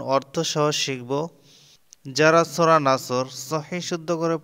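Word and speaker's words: جَاءَ: আলিফ পরিমাণ টানতে হবে এরপরে জিম আলিফ জবর যা এখানেও জবরের বাম পাশে খালি আলিফ কিন্তু এই বামে হামজা আসার কারণে এখানে চার আলিফ টান হবে এটাকে মধ্যে মুত্তাসিল বলে এই যে উপরে চিহ্ন দেওয়া এটা থাকলে চার আলিফ পরিমাণ টেনে পড়তে হয় নুন সদ জবর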